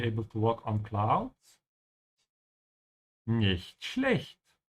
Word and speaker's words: nicht schlecht: learner struggling with pronunciation, make sure to open your mouth on the ch's here. Ja, nicht schlecht. So your teeth should not be touching in the middle of both these words.